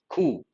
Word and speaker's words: coup: have used a cous the letter p is silent coup with all being no